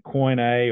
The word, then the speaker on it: Koine: He underscores the New Testament was written in Koine or Kini, depending on how you want to pronounce it, Greek, a common